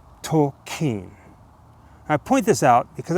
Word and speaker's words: Tolkien: both Jessica and I thought that the correct pronunciation of his name was JRR Tolken, but it turns out in preparation for this video, we learned that it was actually JRR Tolken. Tolken.